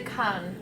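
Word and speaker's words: Kaan: word is actually and okay kind it's actually khan according to the conversion document is that the pronunciation kinds piece is the first word is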